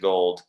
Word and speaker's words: Gould: know robbie gold who spells it the same way as me gould but he pronounces it gold so a lot of